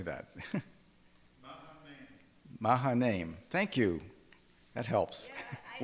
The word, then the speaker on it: Mahanaim: Mahanaim. Thank you. That helps. Yeah, Where do you put the syllable?